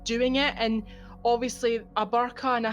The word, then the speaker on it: burqa: burqa or a hijab, is that how you pronounce it? Yeah, hijab, burqa.